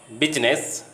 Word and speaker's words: business: Silent I in English words most of the time is pronounced, but in the word business, I remains silent.